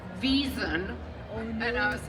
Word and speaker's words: Wesen: Even I remember, the first time Juliet had to say Wesen. Immediately when that episode aired, there was some German fan on Twitter who was like, it's pronounced Wiesen.